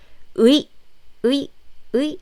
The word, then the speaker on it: 의: So basically it's combining two vowels. E. When you pronounce it quickly, it sounds like this. 의. Yes, it's 의. So doctor in Korean is 의사. So it's 의. It's clearly 의.